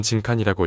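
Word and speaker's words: 人間: 쓰여 있는 것이 보였습니다 이건 뭐라고 읽는 거지 이건 진칸이라고 읽어 지금부터 죽여야 하는거다 정확히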